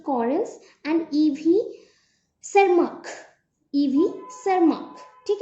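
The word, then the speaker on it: Tschermak: तो उनके according Hugo day व्रिज एंड और कौन थे, सी कॉरेंस एंड ईवी सरमार्क, ठीक है, यहाँ पे टी प्रोनाउंस नहीं होगा, सरमार्क।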